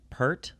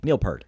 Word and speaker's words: Peart: your face, When I found out that Neil Peart, am I saying his name right? Because I've heard people pronounce it different. I've heard Peart, Peart. Neil Peart.